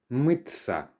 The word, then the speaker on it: мыться: Pay attention to the pronunciation here. It's as if there is a letter ts there. But actually the t soft sign se, ya, it's all pronounced as tsa, mıться.